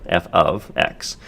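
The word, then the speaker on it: f(x): This is pronounced f of, oops, not or, f of x.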